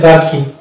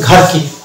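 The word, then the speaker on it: gherkin: এটা হচ্ছে ব্রিটিশ ইংলিশের ক্ষেত্রে, এখানে এইচ সাইলেন্স থাকছে, দিয়ে হচ্ছে এটা গার্কিন। কিন্তু আমেরিকান ইংলিশের ক্ষেত্রে এটা হচ্ছে ঘার্কিন।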